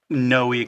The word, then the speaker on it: Noe: Well No but everybody really knows me as Noi cuz when they see the name they don't pronounce it correctly. So, but it's the same name as Noah, but in Spanish is Noi.